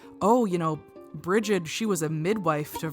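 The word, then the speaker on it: Brigid: associated with the goddess bridgid or that's kind of the current name for her but I think it's breed is how you say it I don't know too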